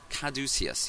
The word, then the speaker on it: caduceus: You know, I looked up the pronunciation of this. I had trouble with it, and Caduceus, yeah, I'm pretty sure that's what it was.